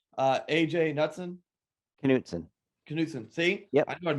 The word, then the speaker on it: Knutson: Knutson.